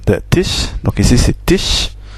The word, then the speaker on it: Tisch: Et das Automobil, das Kind, voilà, der Tisch, donc ici c'est Tisch, S-C-H, se prononce ch, normal.